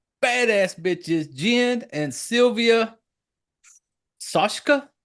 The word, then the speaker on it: Soska: badass badass Jen and Sylvia saska sashka soska it's pronounced soska just to and I when I say badass